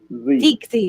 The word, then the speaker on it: Teagsy: Do you say it with the G? TT. Teasy. Teasy. Teague. Teagsy. You do say the G.